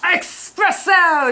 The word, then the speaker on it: espresso: Espresso!